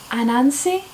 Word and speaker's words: Anansi: So Neverwhere, American Gods, and I don't know how to pronounce the Anansi?